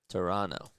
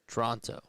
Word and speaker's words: Toronto: because people say Luke Toronto. Yeah. It's more of a way that locals pronounce it. You can tell when someone isn't from here when they have the hard the the hard second T.